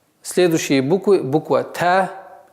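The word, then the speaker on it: ت: Буква Та – мягкий звук, и произносится, и пишется в транскрипции примерно таким образом.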